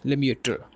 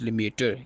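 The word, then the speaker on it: Lemaître: George लिमिटर। ठीक है? George लिमिटर ये बिग बैंग थरी के फाउंडर हैं। आप इनके स्पेलिंग लिख लें।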